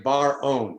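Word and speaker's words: Bar-On: really sounds amazing say his name again mordechai bar own b-a-r okay thank you and we do have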